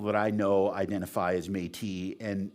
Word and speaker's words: Métis: i know identify as metis and and when people pronounce i get called medici all the time so that's one of my missions too is to get people to learn how to pronounce metis who are the metis